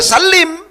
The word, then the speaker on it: sallim: Oleh sebab itu, cara bacanya yang benar adalah Allahumma sholli wa sallim. Kenapa? Sholli fi'il amar. Akhirnya salama itu tidak mungkin kecuali dibaca salim. Sin lam mim itu harus dibaca salim.